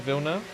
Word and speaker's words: Villeneuve: Is it Villeneuve? That's how you pronounce it, right? That is how you pronounce the name.